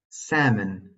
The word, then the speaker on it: salmon: The L is silent in the following words: half, Calm, palm, salmon, folk. yolk.